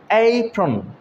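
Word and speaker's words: apron: অ্যাপ্রন বলা যাবে না। এখানে দেখা যাচ্ছে এ, এটা একটা আলাদা সিলেবল। এই আলাদা সিলেবল হওয়ার কারণে আমরা এটাকে কি বলছি? এইপ্রন, এইপ্রন। অর্থাৎ এই এটাকে একটু লম্বা করে উচ্চারণ করছি।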